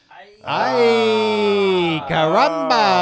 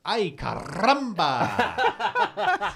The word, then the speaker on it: ay caramba: And the answer is ay caramba. According to Mike Reese, Steve kept pronouncing it ay caramba. And they could not get him to stop rolling his R's.